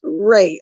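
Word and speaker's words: Rai: I was saying Ra. It took me a long time to catch on that it's in. That is actually pronounced Ray. R-A-I Ray.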